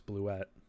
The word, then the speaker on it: Bluet: impulse to yell you blew it ala Billy Madison? That's not how you say my name. It's Bluet.